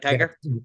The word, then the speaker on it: Tigar: Today we have a special guest, Tiger. I pronounced that correctly. You said right like Tiger, just like the animal.